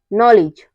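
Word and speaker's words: knowledge: के के बाद एन आए तो हमारा के साइलेंट रहता है जैसे है knock need knife no नी नॉलेज इन सब में क्या है इन सब में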